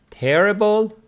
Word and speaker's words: terrible: syllable meaning very good terrible with the stress on the first syllable mean very bad where